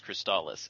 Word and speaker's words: Crystalis: it so that's because you knew it is cristallis and that's the end